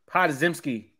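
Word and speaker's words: Podziemski: How do you pronounce his last name? Podzimski.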